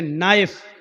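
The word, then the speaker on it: knife: जाएगा जैसे इंग्लिश में नाइफ इसको कहते चाकू को ए नाइस कि मानव चाकू लेकिन के लिखा जाता है बोला नहीं जाता वह साइलेंट रहता है शो मी घुटना अ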